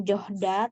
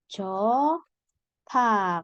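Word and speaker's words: 좋다: Nah, cota ini ya Rabun, cara bacanya bukan johda tapi cota. Kenapa? Karena ada hiat ketemu sama diget dibacanya tit.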